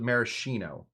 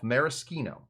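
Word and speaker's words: maraschino: For a long for a long time I called it marishino and uh then people got very angry with me. So I have taught myself mariskino.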